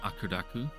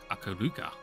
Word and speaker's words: Akuduka: A familiar Akudaku? Akuduka. You gotta put the right syllable there.